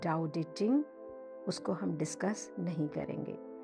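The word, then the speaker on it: Tao: लाजू इसे द ड इसका स्पेलिंग है टी एच ई टी ए ओ बट एंड इट is pronounced at द ड द लिटरली व कहते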